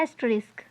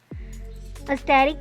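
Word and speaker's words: asterisk: ए रिस्क ठीक है इसको क्या प्रोनाउंस करते हैं एस्ट रिस्क स्टेरिक भी कह लेते हैं मल्टीप्ला टू वैल्यूज दो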